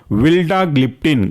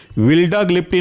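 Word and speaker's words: vildagliptin: दूसरा एग्जाम्पल है आपका विल्डाग्लिप्टिन, ग्लिप्टिन सब में कॉमन है तो इसको आप याद करने में बड़ा आसानी का फैक्टर मान सकते हैं। विल्डाग्लिप्टिन में पहला जो वर्ड है वह है विल्डा,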